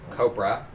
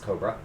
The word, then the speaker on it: Copra: hey uh Cobra around one so it is copra Co P R a so I think it's not pronounced Cobra but it's copr a Michael effected then I